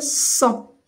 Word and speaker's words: sang: Alors, on ne lit pas le G et là on ne lit pas le T. Donc, je vais dire le sang.